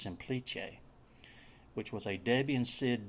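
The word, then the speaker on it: Semplice: looks like it says simplice but i believe it's italian and it's actually pronounced simplice which was a debian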